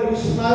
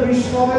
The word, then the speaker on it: বিষ্ণবে: আচ্ছা, কোন ভক্ত যদি উচ্চারণ না করতে পারে, যদি বলে বিষ্ণায় নমঃ, তো ভগবান ওটা নেবে না? ভগবান অবশ্যই নেবে, কারণ ও তো ভক্তি দিয়ে চেষ্টা করছে উচ্চারণ করা, কিন্তু হচ্ছে না তো। আর আস্তে আস্তে বিষ্ণায় নমঃ বলতে বলতে আস্তে আস্তে বিষ্ণবে নমঃ এটা হয়ে যাবে।